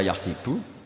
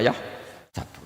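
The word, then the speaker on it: يحسب: Karena dalam qiraat sab'ah ada yang baca yahsibu, qiraat kita baca yahsabu.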